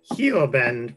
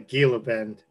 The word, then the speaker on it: Gila Bend: secret this is uh Hugh abend or ill abend you can't pronounce the G the G is silent we learned that through him because of course we're calling a Gila Bend this is a hilarious